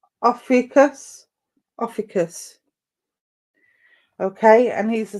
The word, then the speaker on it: Ophiuchus: I can't even pronounce his name. Ophiuchus. Ophiuchus.